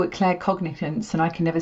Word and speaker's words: claircognizance: Claircognizance.